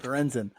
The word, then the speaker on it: Lorenzen: Lorenzen.